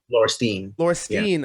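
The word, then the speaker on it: Laurestine: But after your last album, Laurstein, I believe is how you pronounce it. Is that correct? Laurstein? Laurstein.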